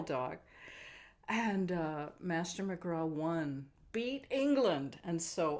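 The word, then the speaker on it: McGrath: a greyhound named Master mcra m c g r a t the th is silent and back in 1869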